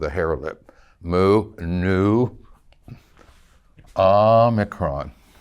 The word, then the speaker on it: omicron: Moo, nu, omicron, omicron. It's a short O sound, hence the micron of the name, omicron.